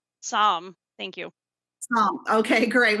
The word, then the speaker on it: Sahm: family institute just how do you say your last name i want to make sure i'm getting it correct sam thank you oh okay